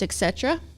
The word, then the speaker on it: Etc.ERA: Uh, basically the the main question is what is etc. Mhm. Which that's how you say it.